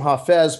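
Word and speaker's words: Hafez: the 14th century he's a Sufi poet they pronounced him ha Fez but it's spelled my coffees so she sent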